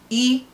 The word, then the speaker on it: i: Nke iri abụọ bụ E. It's pronounced as E, not I. E pronounced as E, but spelled as I.